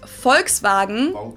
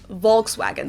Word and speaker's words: Volkswagen: by the full name it would be pronounced Volkswagen and not Volkswagen so just imagine that it was spelled with an f and V instead FKS vagen this literally means people's